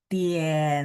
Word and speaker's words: 点: Nah, kalau yang nomor 9, teman-teman ketemu nada tiga, ketemu huruf dengan nada tiga, tapi belakangnya ada huruf lain, maka dia nggak baca full. Jadi begitu turun mau naik, dia nyambung ke apa bunyi huruf sampingnya. Coba teman-teman perhatikan. Tien, turun ya. Tien, cai.